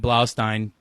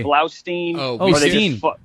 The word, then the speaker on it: Blaustein: that's dude you're you're you're pronouncing my name right which is like I mean so much kudos to you no one pronounces it right they say blow dude I practiced that